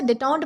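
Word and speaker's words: détente: तो दोस्तों इसके बाद हमारा अगला वर्ड आएगा डिटॉड। दोस्तों इसे डिटों्ट प्रोनाउंस किया जाता है जिसका मतलब होता है तनाव में कमी या फिर संबंधों में नरमाई आना।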